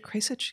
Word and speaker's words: Kasich: Am I pronouncing it Kasich? Yeah, Kasich. Kasich.